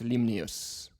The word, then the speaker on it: Limnios: It's by Elias Limnius. Limnios? Yeah. Elias. I think it's Greek. Yeah. Yeah, I believe it's Greek, so I would Yeah. pronounce it Elias Limnios.